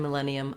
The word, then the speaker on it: millennium: millennium a thousand years we have second syllable stress so our letter i is gonna say a short reduced if or even uh a reduced schwa i'm gonna write that like this ma then we have our red tent vowel in our stressed syllable len that's where i'm going to be long i'm going to hold that len with a clear vowel i have a tense e and then another schwa sound millennium millennium so when i'm